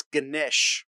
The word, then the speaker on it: Ganesh: It's Ganesh. See, I was wrong. I tried, though. Am I pronouncing it anywhere?